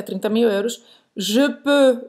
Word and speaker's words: peux: Je Peux, peux, esse E é o mesmo do que euro.